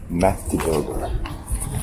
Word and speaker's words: Mättiburger: This is my review of, how do you pronounce that? MÄTTIBURGER.